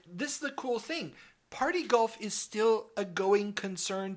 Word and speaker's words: Par-T-Golf: Okay, so yes, Party Golf. And that's spelled par-t-golf.